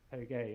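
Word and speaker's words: Touge: I was calling it Toge, and then Jason very kindly private messaged me and said, "Dan, you realise it's pronounced Toge?" And then I realised and thought, actually, yes, 100% it is pronounced like that.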